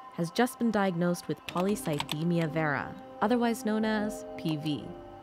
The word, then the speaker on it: polycythemia vera: good questions and I'll tell you how to pronounce stuff polycythemia vera or PV you can say PV PV for